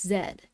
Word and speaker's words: Z: Um, so in uh in other countries, Z is pronounced as zed.